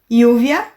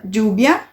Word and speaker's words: lluvia: Com som de I, lluvia, lluvia. Com som de DJ, lluvia. Com som de X, lluvia. Com som de J, lluvia. Com som de LH, lluvia. Qualquer um dessas possibilidades está ok, tá?